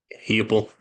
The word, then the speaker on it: Heupel: Is it Hupel? How do you say his last name? Heupel.